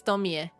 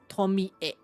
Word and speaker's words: Tomie: Oh, it's Tomie. Because it's thank God the Japanese pronunciation is the same as Spanish, so the phonetics, I mean. Eh. Tomie.